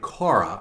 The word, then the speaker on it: Korah: And when they get out in the wilderness, there's a guy named Korah. I think that's how his name is pronounced.